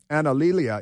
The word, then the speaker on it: Analilia: Her name is, it's difficult to pronounce because it's Analilia. Analilia is her first name. Analilia Mejia. And she is an anti-American radical leftist. But I just love her first name is A-N-A-L, like anal, and then I-L-I-A.